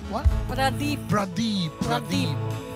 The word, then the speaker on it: Pradeep: Not a girl, but my husband is Pradeep. What? Pradeep. Pradeep. Pradeep. How do you spell that? P-R-A-D-E-E-P. Pradeep, Pradeep, Pradeep, Pradeep. I was hearing Priya. It's not Priya, it's Pradeep.